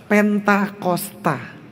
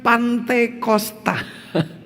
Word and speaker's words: Pentakosta: Pentakosta. yang benarnya adalah Pentakosta, bukan pantosta. Pantekosta itu tidak ada artinya dan pantosta itu tidak ada di Alkitab.